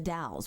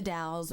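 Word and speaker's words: Dalles: Trail ends at the DS which is d a l l s like Dallas but they don't pronounce the e for some reason well sometimes you don't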